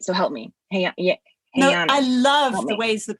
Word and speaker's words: Je'anna: a course that I'm going to say your name wrong again. I want to say it right, so help me. Hey, Anna, I love the ways that people say my name.